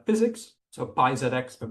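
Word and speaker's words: PyZX: So we we built this library that we call physics. So pi xx but we just pronounce it as physics like physics without the h.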